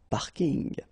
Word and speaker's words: parking: from English but still you should pronounce it the French way parking the parking okay and the last